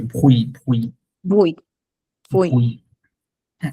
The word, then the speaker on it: bruit: এই টিটা কিন্তু বলা যাবে না, এই টিটা বলা যাবে না, ভুই সাউন্ড হচ্ছে nous, ভুই, পেইজো nous faisons bruit, ভুই, এক্স্যাক্টলি।